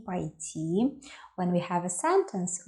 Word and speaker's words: пойти: If we add a prefix to the verb ИДТИ, we get ПОЙТИ. It is not поидти. No. It is ПОЙТИ. Я хочу пойти. The stress on the last letter - пойтИ Я хочу пойти в спортзал сегодня.